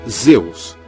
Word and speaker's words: Zeus: da tempestade era víamos em grego pronunciava-se zeus em latim eo ao